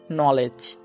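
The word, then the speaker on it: know: কিন্তু এখানে ডি এর উচ্চারণটাই হয়নি। তেমনি করে যদি আমি বলি নলেজ।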